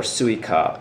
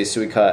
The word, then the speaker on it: Suica: be mad at them daniel says pasmo or suica which do you prefer okay so suika is not spelled in romaji so are you trying to say suica as in the japanese watermelon because if it